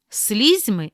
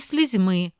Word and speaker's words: слізьми: третьому чи четвертому складі А є слова із подвійним наголосом це означає що обидва варіанти рівноправні і можна наголошувати так як ви звикли чи яке звучання вам більше до вподоби прочитаймо їх помилка або